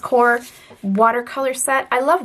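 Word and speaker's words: Koi: up was this core I believe it's pronounced core water color set I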